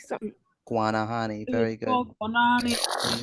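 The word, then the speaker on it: Guanahaní: Guanahan. Something. Guanahani.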